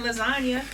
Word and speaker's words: lasagna: You got a silent G in lasagna.